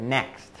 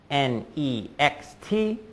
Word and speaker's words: next: but five sounds T same with the word next NE XT four letters five sounds n next are you